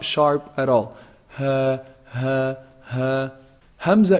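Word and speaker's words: همزة: not sharp at all Hamza is pronounced from also the deepest part of the throat Hamza and half so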